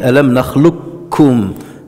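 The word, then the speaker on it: أَلَمْ نَخْلُقكُّم: Alors, dans la prononciation, on dit Alam nakhluqkum. Le qaf disparaît. Et on fait l'idram kamil. Et le kaf va aspirer le qaf.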